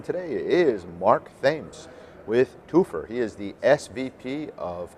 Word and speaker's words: Toopher: like how it's yeah it's got uh twofer but it's spelled differently than the twofer you might think correct people associate with